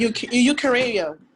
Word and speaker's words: Eukarya: Bacteria, archaea, and eukarya.